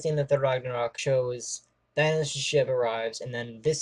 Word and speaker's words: Thanos: Well, Red Skull, he said pronounces it Thanos, but everyone else knows it's Thanos.